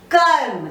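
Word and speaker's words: कर्म: The same way we just touch upon R, we don't pronounce it fully, but it is written on top of the next vyanjan.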